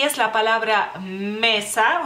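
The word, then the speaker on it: mėsa: Pero se pronuncia igual, mesa, bueno, mesa en lituano cae el acento sobre la A, digamos así.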